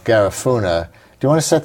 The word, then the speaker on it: Garifuna: Garifuna. Garifuna with a stress on the second syllable.